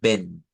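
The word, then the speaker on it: wenn: O sea, a pesar de que hay doble N, eso se parece mucho al inglés, ¿verdad? Hay muchas palabras en el inglés que llevan doble N, pero que en realidad solo se usa una N al momento de ejecutar el fonema. Entonces, esto lo diríamos como ven.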